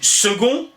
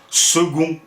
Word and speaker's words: second: Oui, parce qu'il voudrait savoir pourquoi on dit second alors qu'on écrit un C. C'est vrai, c'est quand même bizarre ce C qui se prononce G, c'est pas commun ça, hein? Franchement, second.